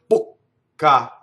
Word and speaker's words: bocca: It's not done by cutting the vowel short, bocca. Bocca is how you do it. Long vowel, go up to the K, don't say it, then say it.